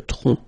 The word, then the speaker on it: tronc: Le tronc, okay, remember, final C is not pronounced here, le tronc, okay?